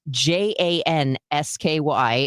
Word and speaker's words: Jansky: It's Jansky Law Firm. Now that's pronounced Jansky.